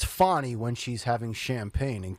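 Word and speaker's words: Fani: said rhymes with parish is it fonnie or is it Fanny originally everybody said her name was Fanny and then somebody changed it along the way see I think it's fonny when she's having champagne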